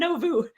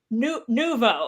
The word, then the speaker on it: Nouveau: And I'm like, no, it's not Novu. It's Nouveau. And he's like, I don't think that's right. I'm like, it is right.